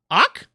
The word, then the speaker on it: Zaj: Oh, it's Zaj. Because the Z is silent. Oh, no, wait, the Z is silent? Ak?